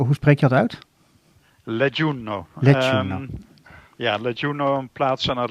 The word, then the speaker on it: Leggiuno: Jij zit nu in Leggiuno, hoe spreek je dat uit? Leggiuno.